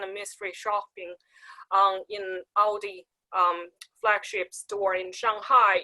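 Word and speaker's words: Aldi: of the the the cheap uh supermarket chain audi did i i hope i pronounced it right ld that's correct yes audi tested out tested the water out in china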